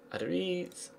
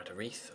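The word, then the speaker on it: Aduriz: Adariz. Or Adarith, sorry, to pronounce it properly.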